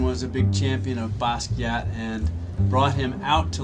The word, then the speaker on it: Basquiat: an exhibit on Jean-Michel Basquiat. I just learned you're supposed to say Basquiat. The T is silent. It's a French word.